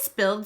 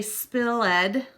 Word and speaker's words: spilled: sound at the end we wouldn't say spill ed or spilt we would say I spilled the milk so we're gonna cover